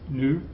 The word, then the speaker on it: nous: I told you when I taught you those pronouns not to pronounce the S, okay? It's nous, vous, il, elle.